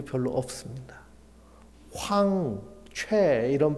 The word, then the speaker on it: 최: 최 이런 발음들 미국에 가면은 저를 최은광이라고 안 하고 뭐라고 할까요? 이렇게 부릅니다. 그 발음이 안 돼요.